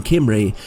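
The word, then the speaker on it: Omri: and this is because in Hebrew the name omry is spelled with the Ken letter the one that looks like an eye which can be a gutural c or G like sound but alternatively a vow likee sound and this is why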